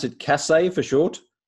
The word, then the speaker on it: CASSE: And what's the role of do you pronounce it CASSE for short? CASSE, we pronounce CASSE.